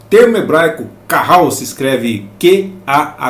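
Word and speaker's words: qahal: primeiro subtópico no antigo testamento o termo hebraico Carral se escreve que a h a l eh Carral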